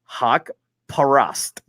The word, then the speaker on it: Haqparast: You suck at pronouncing. Haqparast.